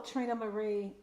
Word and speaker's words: Trina Marie: So Trina Marie.